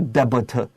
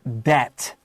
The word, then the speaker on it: debt: D-E-B-T 不是 debit, it's debt. No B. Highlight the letter B and put a little X above it so you don't say debit.